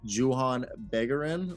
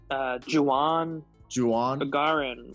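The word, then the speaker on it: Juhann Bégarin: I think it's Juan Begarin with a very, very strong French accent that I can't do.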